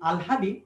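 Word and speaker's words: আহ্লাদি: হয়ের সাথে যুক্ত বর্ণগুলো তোমার পরের বর্ণগুলো আগে উচ্চারিত হয়, অর্থাৎ লটা আগে উচ্চারণ হয় আর হটা পর উচ্চারণ হয় উচ্চারণের ক্ষেত্রে।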